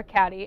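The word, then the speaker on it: Cady: it is about a girl named Katie Heron, played by Lindsay Lohan, or Caddy, as I like to call her, and everyone else calls her because her name is spelled really bizarrely.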